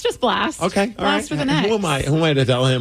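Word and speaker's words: Blxst: just thought it was blast blast blast I I I I was like blast Danny would be correct blast it's just blast but instead of an a there's an X he's hardcore edgy yeah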